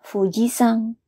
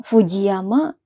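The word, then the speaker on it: 富士山: artinya adalah Gunung Fuji jadi kalau mau menyebutkan Gunung Fuji bahasa Jepangnya adalah Fuji sang ya bukan Fujiyama bukan atau Gunung Fujiyama bukan yaitu Fuji sang ya artinya adalah Gunung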